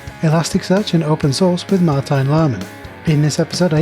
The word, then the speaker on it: Martijn: is it Martin or is it Martin I accept any form of my name but it's the proper pronunciation is Martin Martin okay yeah okay I'll